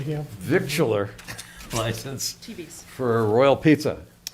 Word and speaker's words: victualler: Victual, well, Common it's vic victualler.